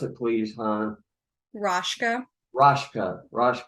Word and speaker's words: Raschke: Han Rofka. Pronounce it, please, Han. Raschke. Raschke.